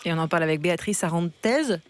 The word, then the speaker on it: Beatriz Arantes: Et on en parle avec Béatrice Arantez, c'est bien comme ça qu'on prononce? Oui.